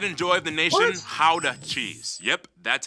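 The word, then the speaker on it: Gouda: and the pride and joy of the nation how to cheese yep that's how you pronounce it guys oh and keep in mind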